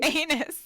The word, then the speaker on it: Aenys: Bolton doesn't believe Tywin will attack anytime soon, but Sir Aenys says... Aenys? I just realized I'm saying Aenys. Sir Anus.